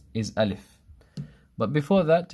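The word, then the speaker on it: ألف: wrong and you you find it spelled sometimes a lef Aleph this is wrong it should be Aleph Aleph not la la I live so this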